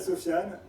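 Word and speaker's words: Sofyan: Donc, je m'appelle Sofiane. Sur les réseaux, c'est Sofiane Magicien. C'est hyper original. Sofiane, ça s'écrit S-O-F-Y-A-N.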